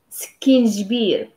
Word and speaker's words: سكينجبير: Okay, so البزار, الملحة, and سكينجبير. So ginger is سكينجبير. Skin is like skin, but we emphasize the kiss, so it's become like skin.